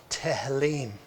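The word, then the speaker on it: תהילים: then you have psalms psalms is pronounced tahelim burnet it begins with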